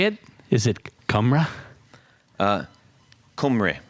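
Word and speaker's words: Cymru: do you say it is it KRA uh kumre kumre kumre that's that's just whales that's not like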